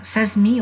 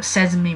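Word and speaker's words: sesame: can say yes e s a m e says me or says me means deal pay attention in pronunciation say jamie please uh pronounce it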